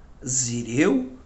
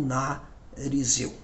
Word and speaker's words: Nazireu: É importante nós não confundir, né, essa palavra Nazireu com Narizeu. Então é importante na pronúncia não confundir Nazireu com Narizeu.